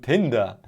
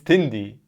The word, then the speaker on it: Tindie: when you sell your stuff on pcbs on tinder or how it's spelled you should also include sdl files or 3d printer of a case okay yeah yeah sure it's tindy but i did this mistake as well this